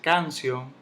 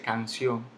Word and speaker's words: canción: La palabra canción, vemos, no se dice canción, no se dice canción, se dice canción. Se lleva su tilde en la O.